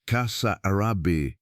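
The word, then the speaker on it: Casarabe: and the flooded plains gave up their secret in the Kazarabi region pronounced Kasa Arab.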